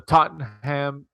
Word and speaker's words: Tottenham: past Saturday the 3 of December from the Tottenham hot spur Stadium did I say that right